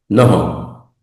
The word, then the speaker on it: nnojo: Piquitos, en guayú dice, nojo. Nojo, recuerden que hay doble, doble, una vocal ahí, repetir, perdón, una consonante doble. Y tiene que geminarse, mmm, es como si fueran dos, dos, dos sílabas, mmm, nojo.